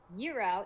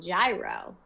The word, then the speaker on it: gyro: all the fans um euro is how we say it on the west coast and gyro is how you say it on the east coast catch 22.